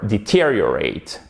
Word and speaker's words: deteriorate: Ensuite, vous mettez l'accent tonique ici, c'est un I court, deteriorate. Et là, vous avez quand même une diphtongue, certes, non pas accentuée, mais on entend deteriorate, deteriorate, ok?